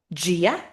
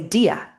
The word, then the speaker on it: Dia: Gia. And there's a reason why the D sounds like a J. Some people might say Dia to be fair.